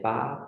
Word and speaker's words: pas: Also make sure to not pronounce the S at the end of pas in this case. So it will be ce n'est pas possible.